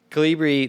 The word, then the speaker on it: Colibri: Colibri. Colibri.